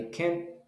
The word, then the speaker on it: can't: that is positive negative i can't play soccer you pronounce the t you only stop the t i can i can